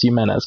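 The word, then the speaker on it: Jiménez: So Joe Jimenez, and I have confirmed that it is how you pronounce his name. It's Jimenez because we pitched him in that game.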